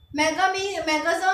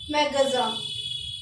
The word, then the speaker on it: magasin: मैगज़ा means होता है store. ठीक है, मेडिकल स्टोर हो सकता है, कोई भी स्टोर हो सकता है हमारा, जिसको हम बोल सकते हैं फ्रेंच में मैगज़ा।